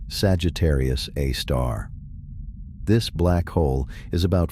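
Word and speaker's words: Sagittarius A*: super massive black hole known as Sagittarius Aar, pronounced Sagittarius A star.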